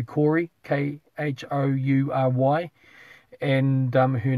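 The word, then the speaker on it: Khoury: her name is Laban Cody, spelled K-H-O-U-R-Y. I'm probably pronouncing it funny, but it could be Corey, K-H-O-U-R-Y.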